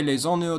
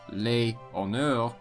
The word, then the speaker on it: les honneurs: Because the H is often not pronounced in French, it is considered a vowel. Thus, instead of les honneurs, it is les honneurs.